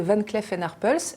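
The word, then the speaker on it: Van Cleef & Arpels: joaillerie il s'agit de van cleef and arpels ça se prononce à la française car c'est une entreprise made in france fondé en 1906 ac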